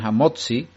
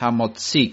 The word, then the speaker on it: hamotzi: Hamotzi lechem min haaretz, conocéis esa frase, y muchos se equivocan y dicen hamotzi, y no es correcto, es una forma americana de decir, y no es la forma correcta hebrea, sino es hamotzi, con el acento en la i.